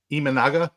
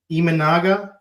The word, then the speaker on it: Imanaga: on on the season and then imman wait pronounce it for me Keith so I get it in my head right imanaga imanaga in Yamamoto um and then it's like everybody